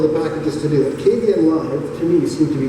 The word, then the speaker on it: Kdenlive: I want to try to use that with Kdenlive, Kdenlive. It's a whole extra syllable in there that I'm not used to.